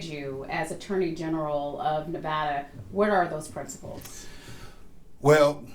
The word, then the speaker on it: Nevada: It's Nevada, not Nevada.